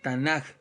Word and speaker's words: Tanaj: la tanac verdad eh que se escribe t a n a K la tanaj eh No es más